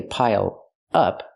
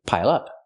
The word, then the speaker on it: pile up: Pronounce it like one word. Don't say pile up. Say pile up.